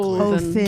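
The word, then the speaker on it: Óðinn: I would pronounce it correctly Othin.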